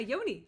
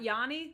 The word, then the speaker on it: Yoni: Hannah calls it a Yoni it's my Yoni okay no like not Yani like the singer no you said it right Yoni just a Yoni okay um John came